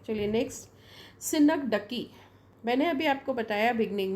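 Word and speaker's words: synecdoche: अब ये सिनक डोज ऐसा हम पढ़ेंगे तो ऐसा पढ़ेंगे सिनक डोज, है ना, लेकिन इसका साउंड मैंने प्रोनाउंसिएशन लिखा है यहाँ पर, दैट इज सिनक डकी, राइट। तो please take care when you pronounce it, सिनक डकी।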